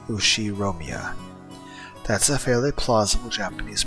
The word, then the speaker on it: Ushiromiya: Ushiromiya. That's a fairly plausible Japanese pronunciation so far.